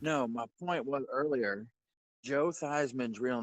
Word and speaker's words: Joe Theismann: No, my point was earlier Joe Theismann's real name is not Joe Theismann.